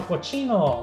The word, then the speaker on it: cochino: Now cochino rhymes with chino, which is Chinese.